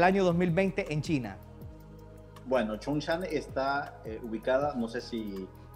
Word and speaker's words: Chongqing: Así se pronuncia, ¿verdad? Así es, Chongqing.